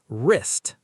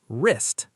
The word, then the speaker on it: wrist: Wrist. Say it. Wrist. The W is silent.